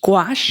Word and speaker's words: gouache: How do you pronounce this? Gouache.